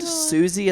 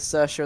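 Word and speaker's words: Siouxsie: And now I'm like the band Suzie and the Banshees. I pronounced it as Cersa and the Banshees for so long. You went the opposite direction. You You didn't even go with Swixie.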